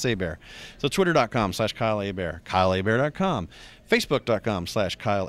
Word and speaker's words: Hebert: Not Herbert, Hebert, but it's pronounced Hebert.